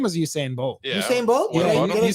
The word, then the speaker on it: Usain Bolt: What was that one guy that ran uh Essene Bolt or something like? What was that about him? His name was Usain Bolt.